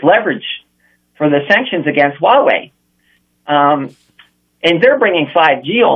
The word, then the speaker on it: Huawei: up you know that a technology company it's pronounced Huawei yes right a lot of a lot of